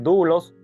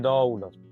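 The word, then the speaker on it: δοῦλος: se menciona la palabra doulos que es la palabra esclavo Ed la puede usar tú puedes decir dulos puedes decir dlos No importa Porque es una es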